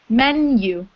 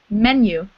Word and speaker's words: menu: Menu. Menu. Mm-hmm. It's a strange word, but the U at the end is pronounced like the word U, menu.